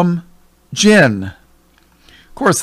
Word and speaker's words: jinn: They call them jinn. Of course, they spell it J-I-N-N. But it's pronounced the same way.